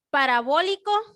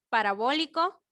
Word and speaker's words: parabólico: Ok, parabólico, acento en la O, primera O, parabólico.